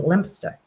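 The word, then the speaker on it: Leominster: Well, here we spell here we pronounce it Lemonster and over there you spell you pronounce it Lemster.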